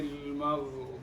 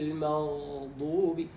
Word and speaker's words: المغضوب: صراط الذين صراط الذين أنعمت عليهم غير المغضوب المغضوب عليهم ولا الضالين غير، أعدها. غير المغضوب عليهم. لا تطل. غير المغضوب، مش المغضوب.